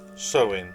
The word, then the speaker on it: Samhain: date back to the ancient celtic festival of sewin it's actually spout s-a-m-h-a i n but pronounced so in the celts who lived 2 000 years ago